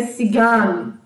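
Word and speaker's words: Zigeuner: Z de Zigan, né, que se escreve Zigner, né, mas a pronúncia é Zigan.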